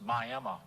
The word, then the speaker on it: Miami: I finally show up on July 17, 1930 in Miami, Florida, pronounced Miami, by the way.